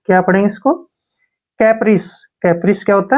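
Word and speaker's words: caprice: सी ए से हमारा हो गया के, पी से हो गया पै, आर आई से री, और सी से से बन गया कैप्रिस। क्या पढ़ेंगे इसको, कैप्रिस।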